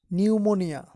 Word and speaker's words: pneumonia: teacher my mother is a psychology teacher Chicago pneumonia p-n-e-u-m-o-n-i-a pneumonia my wife is suffering from pneumonia